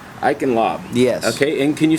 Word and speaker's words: Eichenlaub: your name Sir and your last name I lob iin lob yes okay and can you spell that for me e i c a h